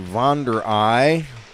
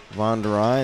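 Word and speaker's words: Vonderahe: going to be Ethan Vere ey Vere ey that's a Dutch pronunciation v o n d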